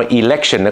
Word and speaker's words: election: เมื่อ กี้ เบอร์ 1 นะ ครับออก เสียง ว่า อีเลคชั่น ครับ ถ้า คุณ ไป ใส่ election เป็น ตัว